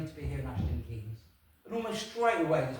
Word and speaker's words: Keynes: excuse me, young man, I know it's spelt Keynes, but here in the village we prefer to pronounce it Keynes. So if you refer to it again, I hope you don't mind using that."